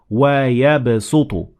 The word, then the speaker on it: وَيَبْسُطُ: And it means that even though the word is originally pronounced or written using the sad, like in this example, it is better or more common to pronounce the sin instead of sad. So it is better to say وَيَبْسُطُ.